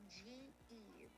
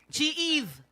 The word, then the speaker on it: G-Eve: Okay, so the pronunciation of my name is G-Eve. G-Eve. That's it, G-Eve.